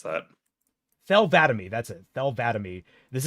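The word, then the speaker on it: Thel 'Vadam: God, Don't ask me to pronounce that. Thel Vadami.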